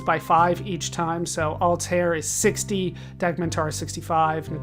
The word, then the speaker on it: Altair: Altair let's go with Altair there's a problem you won't say Altair but that's a name Altair is the more common pronunciation uh that stops time